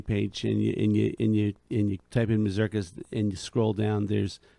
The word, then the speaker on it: mazurkas: Well, it's first of all, it really, if you want to pronounce it correctly, it's Mazurkas. Mazurkas. Yeah. And gotta roll that tongue.